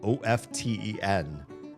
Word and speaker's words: often: And I have since learned only in the last year or two that the T in often is silent.